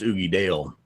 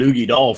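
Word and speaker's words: Uigeadail: Well, we called it Oogie Doll for a long time, and then we got the correct pronunciation of it being Oogie Dale.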